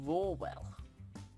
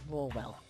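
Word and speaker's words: Rawell: That lion, though, his name is I mean, like- Rawwell. Rawwell. That's Yes, funny. it's spelt R-A-W-E-L-L. Rawwell.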